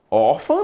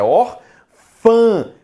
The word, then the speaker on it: órfã: Órfã não, né? Órfã termina em A. Te pergunto, a pronúncia é órfã? Não, a pronúncia é orfã. Por isso que não é terminada em A.